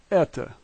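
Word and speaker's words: это: The backwards E is an E sound, and then we have T and O, and this is eta.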